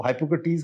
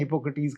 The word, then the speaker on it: Hippocrates: अलग अलग जगह प्रोनाउंसिएशन अलग है, कुछ इसको हाइपोक्रेटीज कहते हैं, हिपोक्रेटीज कहते हैं, that is a different matter.